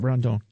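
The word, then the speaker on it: Rodón: Carlos Rondon, is that how I say that? Or I always say his name wrong. Yeah, Rondon.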